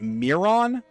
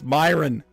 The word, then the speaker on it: Myron: He pronounced it Mirron. Myin? What? In a word world, the strong take the weak and the weak quake. Mirnon. Mirnon. Miron. It's Myin. Bye-bye now. Or or Mirron. Myin. I I would I would pronounce that Myin to be fair.